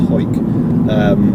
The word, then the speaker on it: Hawick: But also it avoids going through Hoyk on the A7. Hoyk, which is spelt Hawick, Hawick, Hawick, but it's pronounced Hoyk, because there was some